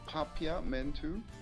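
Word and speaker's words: Papiamento: go crazy but uh it's pronounced papya men too it's literally for English but in my native language it's popular men too that's what's up so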